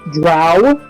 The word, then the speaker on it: drow: reason to use dancing also it's pronounced drow you know I'm gonna